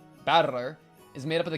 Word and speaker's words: Battler: Battler is made up of the characters for fight and person and it's pronounced battler.